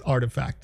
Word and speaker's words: RTFKT: is artifact studios rtfkt you may know them by because you know it's a it's a nice it's a nice play on how to pronounce that but not everybody knows that it's artifact so artifact studios has